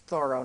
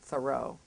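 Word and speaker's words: Thoreau: Soro did but um that's the proper pronunciation of his name by the way it's thoro not thorough I keep slipping on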